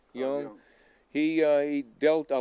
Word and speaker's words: Jung: come in because that Jung or whatever his name is pronounced young.